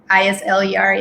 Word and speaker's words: Isler: is at eisler even though if the pronunciation is islaris isleyr and instagram um on twitter um molly underscore